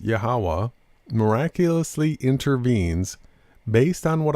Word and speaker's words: YHWH: is right he wrote unless yhwh and that is pronounced yahawah miraculously intervenes based on